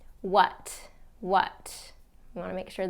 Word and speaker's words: what: To, it can be ta, it can be to in the pronunciation. What. You want to make sure that a is reduced to that what.